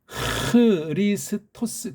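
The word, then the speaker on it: Χριστός: 헬라말은 특히 이게 고유명사일 땐 그 나라 소리를 넣어야 되기 때문에 크리스토스 그렇게 하면 돼요.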